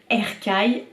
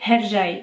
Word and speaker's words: Hercai: Après forcément j'ai un accent un peu merdique mais c'est Hercai. Donc tout se prononce, en turc tout se prononce et le C c'est J.